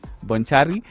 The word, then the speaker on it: Bonchari: held today in uh three places uh in bonchari constituency uh how do how do you say that felix bonchard that's that's the correct pronunciation bonchari do you know the place yeah yeah in